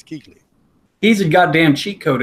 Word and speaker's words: Kuechly: he's got Luke Kuechly I believe that's how that's pronounced and I was why do I always pronounce Equis yeah I'm going with kukuli it sounds funnier I know it looks like Kuechly what it's Keith Lee he's a goddamn cheat